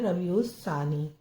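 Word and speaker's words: ربیع الثانی: ये एन अलिफ लाम अब यह जो है लाम तो यह साइलेंट रहेगा लिखने में भी आएगा आप और जब देखेंगे तो समझेंगे य लाम है लेकिन बोल नहीं पाएंगे जब आप तजवीज से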